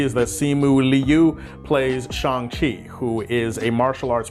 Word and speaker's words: Shang-Chi: So yeah, the pronunciation is Shang-Chi, not Shang-Chi, Shang-Chi.